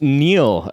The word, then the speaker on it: Niall: works works for me oh damn it is Neil uh thank you so much for joining us